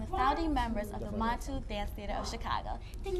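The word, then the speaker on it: Muntu: That's the proper pronunciation. Yes, Montu, yes. For those who may know, it's Montu.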